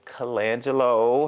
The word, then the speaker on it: Colangelo: is working on ladies and gentlemen Miss Colangelo hey hey Draco thanks for having me good did I pronounce your last name right you did okay